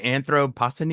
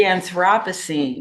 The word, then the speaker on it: Anthropocene: of Nature, and I don't know how to pronounce that. How do you say Anthropocene? The Anthropocene.